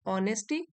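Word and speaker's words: honesty: As India's 13th prime minister, फिर से comma है, ही was known for हिज ऑनेस्टी, H silent है, ऑनेस्टी, humility and focus on the countries progress.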